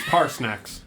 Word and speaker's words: Parsnax: How do you spell that? Like S-N-A-C-K-S? Oh, Like Or with an X. it's with an X, but yeah, it's Like parsley snacks.